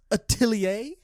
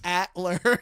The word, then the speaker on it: atelier: The title of this manga is apparently pronounced Witch Hat Atelier. Atelier. Which I have legitimately been pronouncing it Witch Hat Atler this entire time.